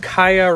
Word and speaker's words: Kia: featured on titled rainbow the fact that kaia rhymes with mariah may be a coincidence